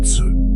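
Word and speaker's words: 慈: Le premier trésor, le plus grand des trois, il l'appelle Si, prononcé Tse.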